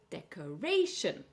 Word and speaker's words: decoration: So four syllables. And this is a rule you can actually learn. Anytime you have a word ending in ation or isian, we're going to stress on the A or the I.